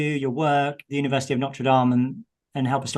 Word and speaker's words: Notre Dame: political philosophy at the University of Notre Dame Notre Dame is how we call it but I don't believe you're a French French pronunciation yeah um I've taught uh at three